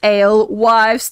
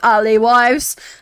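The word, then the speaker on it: alewives: to chase away R isn't that pronounced ale wives not Ali wives oh my god brother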